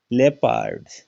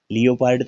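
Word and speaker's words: leopard: धवनी आई है इसमें देखिएगा लेपार्ड लियो पार्ड तो नहीं बोलते व साइलेंट होता है तो क्या बोलते हैं लेपर्ड इसमें देखिएगा रफ ओ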